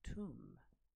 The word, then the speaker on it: tomb: Well, as I have told you, this word is pronounced as tomb. Tomb, not like Tom, tomb.